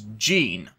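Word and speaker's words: 神: their names are all spelled with a kanji pronounced as Gene meaning in this case Comm or God so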